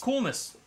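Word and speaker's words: Koulnis: Coolness. Which is spelled K-O-U-L-N-I-S.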